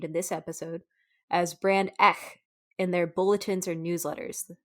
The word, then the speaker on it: Ech: not be named in this episode, as Brand Ech in their bulletins or newsletters. That's spelled ECHH.